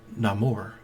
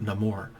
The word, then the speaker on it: Namor: in his personality too Namor could have just been Namor Namor however you want to pronounce it I always pronounce it no more but because of the